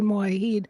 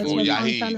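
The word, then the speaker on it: Mujahid: They say Mohahid. The J is silent. I guess like Megazar would say. Yeah, Mojahid. Yeah, that's how you say his name.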